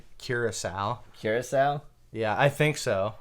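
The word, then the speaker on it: Curaçao: a splash of blue caracas oh and a drop of granite by the way i'm pretty sure that's people pronounce it curacao curacao yeah i think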